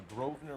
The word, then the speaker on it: Grosvenor: She didn't ask how it's spelled because the S is silent apparently, but whatever.